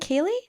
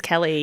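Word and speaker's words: Keleigh: I kind of knew this was Is it Keley? No, no, no. I actually thought it was I thought it was Key as well, but it's it's Kelly. It's Kelly.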